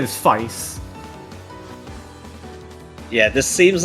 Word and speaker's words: Feist: I've been told at least that the pronunciation is Feist.